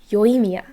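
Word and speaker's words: Yoimiya: for something for that her name is very flat again no no punch in the third syllable it's yoimia yoemia and i looked up for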